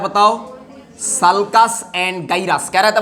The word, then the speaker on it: sulcus: सल्कस या तो सुल्कुस। क्या बोलते बताओ? कैसे प्रोनाउंस करोगे, सल्कस बोलोगे या सुल्कुस बोलोगे? देखो मैं बताता ये पर, SULCUS, तो कैसे प्रोनाउंस करोगे, सुल्कुस या सल्कस?